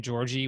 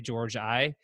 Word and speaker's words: Georgi: that Nate Goddard asks why does everyone pronounce my last name Georgie when you clearly say George I and that's a great